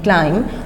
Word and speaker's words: climb: यहाँ पर एक बात मैं और बताती चलूँ आपको कि जब हम क्लाइम लिखते हैं CLIMB क्लाइम, तो क्लाइम में B जो है ये साइलेंट है, क्लाइम, ठीक है, ये साइलेंट पढ़ा जाएगा।